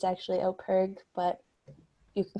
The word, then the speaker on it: OPIRG: of peterborough um some people i think it's pronounced oprig but it's actually operg but you can call us really anything um